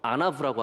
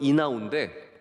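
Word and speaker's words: ענו: 제가 주석에서 본 건 이나우인데, 우리 구약학자 한 분께서 저에게 문자를 보내주셨어요. 이게 아나브에 더 가까운 말이에요. 영어에서는 이나우라고 읽을 수 있지만 아나브라고 해서, 제가 그래서 고쳐서 말씀을 드립니다.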